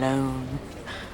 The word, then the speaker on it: Lone: kind of comic relief tom lone rhymes with cone bone i mean i'm not